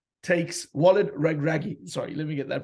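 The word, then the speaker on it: Regragui: that sort of goes to script but wallet red ruby takes wallet raggy sorry let me get that pronunciation right takes with Casablanca they win the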